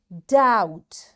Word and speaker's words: doubt: second situation here dead after b the letter t is there this letter t makes this b silent and we don't say it and we say debt doubt b is silent and doubtful you got